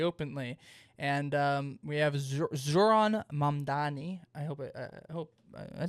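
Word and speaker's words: Zohran Mamdani: And um we have Zoron Mandani. I hope I hope I think I pronounced that.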